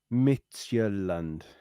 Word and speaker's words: Midtjylland: But before we do, the team it's pronounced Midtjylland.